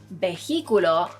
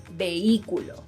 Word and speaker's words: vehículo: Another word is, if you're thinking of the pronunciation is vehículo, then I'm sorry to tell you, but you're wrong. The correct pronunciation is vehículo.